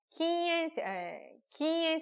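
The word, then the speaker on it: 禁煙: 근데 어느 게 금연이고 흡연인지를 알아야 되는데 발음이 비슷해요. 흡연은 키스행입니다. 그리고 금연은 기행이거든요. 그래서 요 하나, 응이냐 츠냐에 따라서 한 끗 차이예요.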